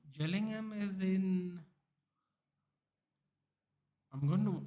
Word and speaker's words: Gillingham: if I'm not but sorry jelling ham I think it's pronounced jelling ham is in I'm going